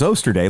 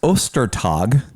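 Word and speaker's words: Ostertag: last name because we we said his name was oyster day like yesterday and it's not oyster day like yesterday no it's ostertog as in easter day the day of easter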